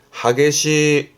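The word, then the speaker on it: 激しい: 발음은 하게시 하게시합니다.이 단어는 주로 N3 때부터 많이 보여지는데요.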